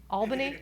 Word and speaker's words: Albany: Albany? Okay, Albany user group meeting, visiting that area, and another